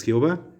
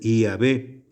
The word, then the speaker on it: Yavé: sagrado nombre de dios pero en la práctica no es jehová la iglesia nos enseña como ya ve y la pronunciación correcta es llave y si no para